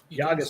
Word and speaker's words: Llagas: And I said it right, didn't I? Llagas. Say it right. Llagas. Wonderful. I finally didn't butcher something. Yeah, Spanish pronunciation.